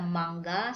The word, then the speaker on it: mangga: So, ng here pronounced from the word sing, ring, ding, and then you just add the vowel. Sing, nga, singi. Okay. Maasim na mangga, sour mango.